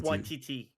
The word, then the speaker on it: Waititi: No, Okay, no, it's pronounced similar to tiger, so it's like Taika Taika Watiti. Waititi.